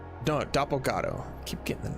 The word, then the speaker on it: Dopo Go: Uh, this is Dopprot. No, doppato. Keep getting the name wrong.